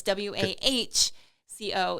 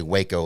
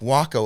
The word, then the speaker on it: Waco: It's WAHCO in terms of like how you pronounce it. Yeah, because when I first saw it, I wanted to say Waco, like the Texas city or town. And it's not. And they let me know. It's Waco, like taco, and they're